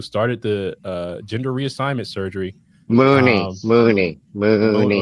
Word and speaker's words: Money: Mooney. Is Money is how you spell it. But, I know, but it's Mooney.